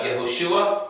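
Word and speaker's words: יהושע: the letter u so it changes from yeah to yet remember the vowels are added they're not significant what's significant is any form of the consonant letter so it's not a necessary to always have the exact same vowels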